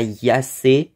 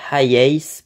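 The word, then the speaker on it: HiAce: début je pensais que ça se prononçait Toyota Yas euh apparemment ça se prononce Toyota highace plutôt mais euh il date de 1980 je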